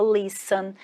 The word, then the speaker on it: listen: O verbo ouvir, você escreve listen e fala listen.